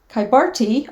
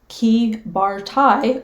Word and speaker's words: Kybartai: As you can see from the map, Kybarti, or Kybartai, or Kybarte, with a rolled R, of course, which I can't do, is pronounced differently depending on whether you're speaking Lithuanian, Russian, or Polish.